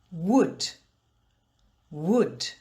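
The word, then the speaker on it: would: But in the word wood, the L is silent. Shoulder, shoulder. Wood, wood. But let's get back to the sound ul.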